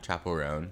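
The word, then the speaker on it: Chappell Roan: Chapel Roan.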